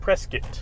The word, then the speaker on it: Prescott: Prescott. Prescott. Okay, that's what I thought. Like biscuit.